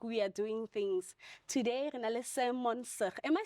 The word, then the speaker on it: Simonsig: Today, SimonSig. Am I saying it right? You're saying right, Nomstar? Yes. SimonSig. SimonSig.